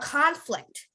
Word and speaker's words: conflict: a conflict yes a conflict conflict you would emphasize on the con conflict can someone say